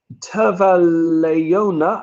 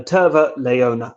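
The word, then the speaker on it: terva leijona: tar flavored ice cream tava leona i don't really know how finnish words work so i'm i apologize for my pronunciation literally tarline oh i see tavare leona no terva leona i see candies have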